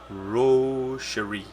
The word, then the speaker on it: Wroshyr: Well, they spell it Wroshyr, but the pronunciation is Wroh-Shir-ee. Wroshyr.